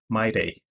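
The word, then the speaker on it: Mide: that as destiny the second is m-i-d-e i pronounce that as my day the next is m-a-c-e-o i pronounce that name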